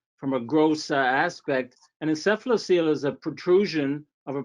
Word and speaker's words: encephalocele: help me uh pronounce i think it's encephalosale have i got that right uh that's quite good encephalocele okay can you tell